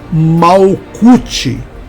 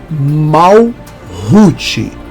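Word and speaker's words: Malkuth: na número 10 né você fala mal cute quando na verdade dentro da cabala não é mau Cult e sim mal Rute tá E também temos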